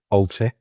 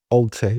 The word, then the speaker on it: Alty: As I was told it's meant to be said by David Dean, Alty. Alty. I'll pronounce it like a Mancunian.